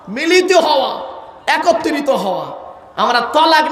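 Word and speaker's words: طلاق: শব্দটা কিন্তু তালাক নয়, শব্দটা তালাক নয়, শব্দটা হলো তলাক।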